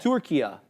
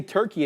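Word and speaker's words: Türkiye: say it locally and Tura right you don't say turkey anymore you're saying Tura right which is how it's said in Arabic which funny enough but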